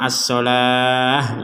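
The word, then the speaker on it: الصلاة: Nah, ini juga sama as-sholah. Jadi dibaca sebagai huruf ha kalau berhenti. Wa aqimus sholah menjadi huruf ha. Kalau disambung akan menjadi huruf ta sebagaimana semula. Wa aqimus sholata wa atuz zakah.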